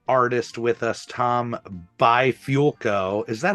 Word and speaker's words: Bifulco: joke because I just I can't get it by fulco that yeah that was pretty good I'll give